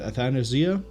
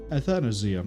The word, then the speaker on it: Athanasia: I'm going to go with Athanasia. Athanasia.